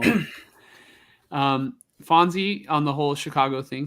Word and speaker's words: Chicago: Fonzie on the whole Chicago thing said heavy CH. So Chicago.